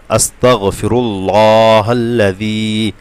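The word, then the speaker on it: أستغفر الله الذي: এবং জাল অবশ্যই জিব্বার আগা দিয়ে হবে। পাতলা হবে জি যেন না হয়।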